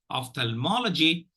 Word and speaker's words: ophthalmology: will encounter so of the first syllable gets the second reaction the third syllable gets the primary action Ophthalmology and let us look